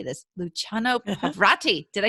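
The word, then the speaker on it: Luciano Pavarotti: directing such luminaries as i always say this luciano pavrati did i say it right yep yeah i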